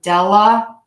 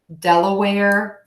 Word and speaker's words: Delaware: but then down here air is actually how we pronounce it so Delaware Delaware Delaware Delaware Delaware okay